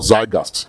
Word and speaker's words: Zeitgeist: If the current momentum and electoral zeitgeist, or zeitgeist, as the Germans will pronounce it, among the Nigerian youth is anything to reckon with.